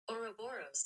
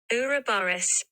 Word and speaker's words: Ouroboros: Ouroboros. That's the American pronunciation.